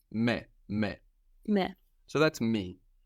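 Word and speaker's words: με: same as in English you just pronounce it more like how it's written me me me so that's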